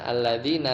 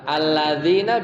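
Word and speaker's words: الذين: Ada yang bacanya apa? Bukan bil ya, tapi apa? Alladzuna, jarang. Alladzuna pakai wawu, ya. Yang sering apa? Alladzina bil ya.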